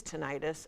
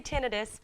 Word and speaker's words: tinnitus: So I say tinnitus, but you can say tinnitus. There's no right way to say it, but I just say tinnitus, so that's how I pronounce it.